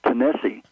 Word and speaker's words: Tennessee: that uh the state of Tennessee is properly pronounced tenesse um it is a Cherokee name and most